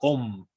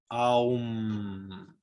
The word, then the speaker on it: Om: Se debe pronunciar no como Om, sino que se debe pronunciar como Aum, con una resonancia nasal. El Aum, que debe permanecer por un instante, hacer vibrar las fosas nasales.